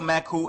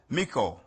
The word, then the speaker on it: Maku: United naap Nation today the title maku is mispronounced as Miku or Miko if you go further